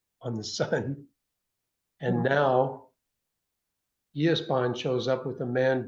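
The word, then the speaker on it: gyászban: Yesban. Great, thank you. And that has all the interesting pronunciations in Hungarian, like the silent G, the SZ is S.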